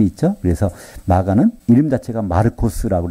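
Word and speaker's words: Μάρκος: 그래서 마가는 이름 자체가 마르코스라고 해서 이건 헬라식 발음입니다.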